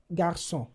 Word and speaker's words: garçon: Ordinarily, this would have been pronounced ca. But because of the accent, the cedille accent, it sounds ça. Another example garçon.